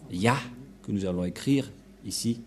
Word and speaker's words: Yah: allons réécrire allons-y euh en premier c'est et et ça se prononce selon les Juifs le premier terme que je vais mettre en bas sa prononciation se lit I et l'autre se lit à H je vais expliquer simplement et lorsque on va regrouper à la normal ça se transforme en ya que nous allons écrire